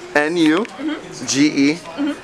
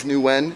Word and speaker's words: Nugent: N-U-G-E-N-T. Mm-hmm. Not to be mispronounced as Nguyen, it's Nugent, people.